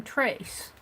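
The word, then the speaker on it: Therese: Trace is T-H-E-R-E-S-E. You pronounce her name Trace.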